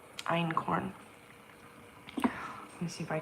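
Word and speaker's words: einkorn: German word I think e i n k o r n and iron corn let me see if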